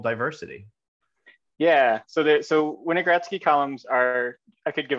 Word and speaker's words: Winogradsky: experiment on his desk called, and I may mispronounce this, so Aaron, jump in if I get this wrong, called a Winogradsky column, did I get yep.